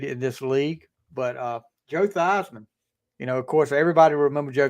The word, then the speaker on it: Theismann: And a lot of people don't realize his name is actually Joe Theismann, but he changed it to Theismann in college to rhyme with Heisman because they were pushing him to win the Heisman as quarterback at Notre Dame.